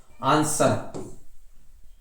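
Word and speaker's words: answer: फिर आगे बढ़ते हैं, साइलेंट डब्लू, डब्लू को भी शांत किया जाता है, देखो आंसर, sword, to, whole, wrist, right, rap, wrinkle, rat, rake, racial, rain, ranch, racial, right और रिगल।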